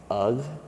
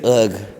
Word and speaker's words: UGH: It's People say ugh. Yeah, it's not if you're saying ugh, you don't know me. It's right. Like it's the U is just the G is silent.